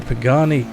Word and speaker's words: Pagani: It's based on the Pagani, which I'm pretty sure is how you pronounce it.